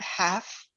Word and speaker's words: half: is in the word half h-a-l-f the l is silent as i have so